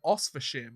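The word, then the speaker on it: Oświęcim: Eliezer Sherbatov has drawn criticism and even been accused of treason after signing on with a Polish team in Oswiecim, I believe that's how you pronounce it, where the Nazi occupiers built the Auschwitz-Birkenau concentration camp.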